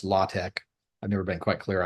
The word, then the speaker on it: LaTeX: latch l l aex looks like latex but it's pronounced latch usually or sometimes it's pronounced latch I've never been quite